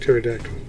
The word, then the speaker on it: pterodactyl: Yes, the P is silent. Mm-hmm. It's like pterodactyl.